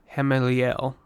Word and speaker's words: Hameliel: Hameliel. That should be how you properly pronounce that.